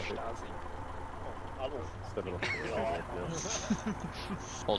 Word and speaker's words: Stasi: Actually pronounced Stasi.